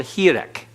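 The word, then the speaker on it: hireq: It's called hirek. Hirek. And it's an E sound, the I as in machine, but also it is sometimes shortened to the I as in bit or the I as in pin.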